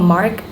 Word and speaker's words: ma: are no tone tonal mark above the vowel. Okay, so to pronounce uh this the tone, you just keep your voice flat. Okay, for example, ma is flat and a little bit long, like that.